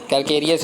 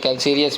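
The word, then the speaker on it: calcareous: Laterite कैल्सीरियस नहीं है, कैल्केरियस भी बोलते हैं, कैल्सीरियस भी बोलते हैं, तो इसमें आपको प्रोनाउंसिएशन में घबराना नहीं है, ठीक है।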